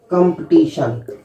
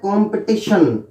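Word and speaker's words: competition: इनको बोलते हैं कंपटीशन कंपटीशन लेकिन यह कंपटीशन नहीं होता है यह है कॉन्पिटिशन कॉन्पिटिशन ऐसे से को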